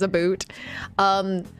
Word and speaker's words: about: So people who pronounce about as a boot, it would be like a newfie, like someone more on like the East Coast, so from Newfoundland. They definitely pronounce it as a boot.